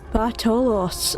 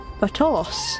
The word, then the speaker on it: Bartolos: Bartolos. Okay, that makes more sense. That it's a T rather than a th. Bartolos.